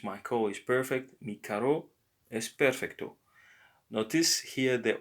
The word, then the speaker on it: carro: Car is carro. carro, Carro. Yes, it's raspier than if you would have only one R.